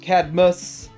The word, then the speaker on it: Cadmos: So they have this Cadmus, and it's pronounced Cadmus, even though they spell it Cadmos.